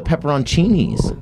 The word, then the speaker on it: pepperoncini: it spell it pepperchini it's pepperoncinis spell it p p e p p e r o n that's the part he forgot c i n i the o silent like the k and knife the sound yes pepper